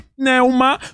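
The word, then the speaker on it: πνεῦμα: entendemos a palavra espírito No grego tem a pronúncia de pneuma na no hebraico tem a pronúncia de ruach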